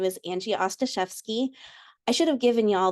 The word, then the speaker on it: Ostaszewski: For those faces that are unfamiliar, my name is Angie Ostaszewski. I should have given y'all the way to pronounce it is like saying pasta chef ski, drop the P, pasta chef ski, Ostaszewski, but most people call me Angie, to be honest.